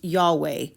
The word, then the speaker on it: Yahweh: indicate that most probably it was originally spoken jahe pronounced yahweh etmologically it is a Third person singular imperfect probable of the verb hawa or hawa signifying to be.